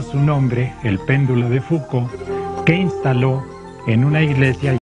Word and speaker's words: Foucault: gran científico francés León foucault se escribe fult pero se pronuncia FC y él en el